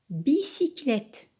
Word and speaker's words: bicyclette: grave au leuy classés entre deux consoles se prononcent it be sick il est bicyclette bicyclette hao milliards d euros il y ici